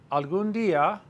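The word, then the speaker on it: algún: the nature of language alund there's an accent on the U alund I want well that's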